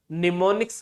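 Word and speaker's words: mnemonics: जाते हैं, उन्हें हम निमोनिक्स के नाम से भी जानते हैं। निमोनिक्स मतलब जैसे ऐड हो गया, मूव हो गया, ये निमोनिक्स हैं, इसमें एम साइलेंट होता है।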